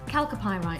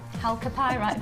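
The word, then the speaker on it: chalcopyrite: Calcopyrite. Thank you. Think of calpol. Calpol? Calcopyrite, that's why. That's the way I'm remembering how to say it.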